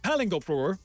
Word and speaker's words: paling: It's pronounced paling and it's ridiculous.